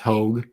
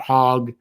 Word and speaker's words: Hogue: sorry about that mike i didn't know was pronounced hogue um i feel i feel bad about that sir i really do because my my last name is constantly butchered uh so i'm very i'm always very sensitive about trying to get people's names right so i apologize for that so it's michael hogue not hogg my bed okay traveling